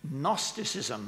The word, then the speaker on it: gnosticism: c i s m gnosticism that the g is a there's a sort of almost a silent g it comes from the